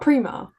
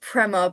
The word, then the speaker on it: Prema: But you say is it not Prima? I think it's Prema, but I'm not Italian.